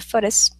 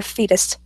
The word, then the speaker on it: foetus: The foetus. It's spelled. Sorry, it's because it's spelled FOETUS. The fetus.